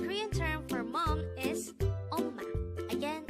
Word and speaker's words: 엄마: The Korean term for mom is 엄마. Again, it's 엄마. This is pronounced as a two-syllable word. The first syllable is the second syllable is ma.